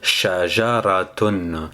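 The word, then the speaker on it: شجرة: fait on a TR quatre sons qu'on va prononcer pour produire le son shajar je répète lentement shajaraton on va essayer maintenant d'écrire la lettre Chine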